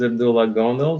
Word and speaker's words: Abdullah Gondal: you say it uh yeah my name is Abdullah gondo thanks for having me on the show it's